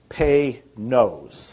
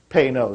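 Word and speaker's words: Panoz: name and it's pronounced if you want to pronounce it right it's pay no pay no like P Y and then n o s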